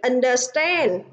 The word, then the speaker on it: understand: À, vậy đáp án trong câu số 2 chính là câu C, vì understand. À, trọng âm rơi vào âm tiết thứ 3, còn 3 từ còn lại trọng âm rơi vào âm tiết đầu tiên.